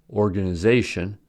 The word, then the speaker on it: organization: a shorter base word for example organization has primary stress on the fourth syllable and secondary stress on the first syllable since organize has stress